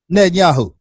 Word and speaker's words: Netanyahu: Netanyahu. Netanyahu.